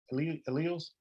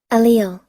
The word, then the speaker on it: allele: How you say it again? Alleles? Allele. Allele. Okay.